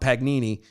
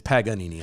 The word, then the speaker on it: Paganini: sit and you know drop pagnini you know what i mean and and it kind of may not be saying it right but that's fine i know because but it's funny to me yeah it's paganini i know oh yeah